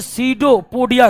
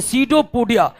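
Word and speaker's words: pseudopodia: क्या कहते हैं, कूटपाद को अंग्रेजी में सीडोपोडिया कहते हैं, सीडोपोडिया कहते हैं, सीडोपोडिया। पी जो है साइलेंट हो जाता है, पी क्या हो जाता है।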